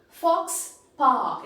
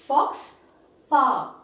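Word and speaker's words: faux pas: individual items and then fox park it is not for sparks it is fox power that is a pronunciation and it talks about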